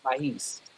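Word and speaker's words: Maahes: But it's Mahis. pronounced Mahis.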